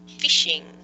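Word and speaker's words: phishing: fishing as well so even though it's got a pH it's the same kind of pronunciation as fishing for trying to catch fish shiny did you have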